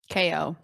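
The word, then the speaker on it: KAY/O: pronounce the robot's name ko ko okay it's KO yeah it's like mayo oh see I thought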